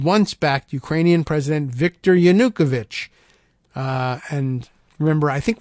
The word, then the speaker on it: Yanukovych: backed Ukrainian president Victor Yanukovych uh and remember I think we learned somewhere along the line that uh my pronunciation of it was wrong on a yonakovich was what they were using so Victor Yanukovych in